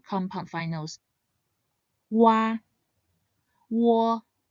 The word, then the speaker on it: Wo: When said quickly, Wo should sound similar to the O in the word walk or walk.